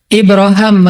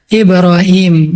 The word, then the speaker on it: Ibrahim: Kalau dalam salah satu qiraad itu bacanya Ibra Ibraham. Makanya orang Inggris nyebutnya Abraham. Atau bisa juga dibaca Ibrahim.